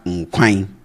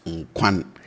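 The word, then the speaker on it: nkwan: We have nquine, and I say nquine, not nquan.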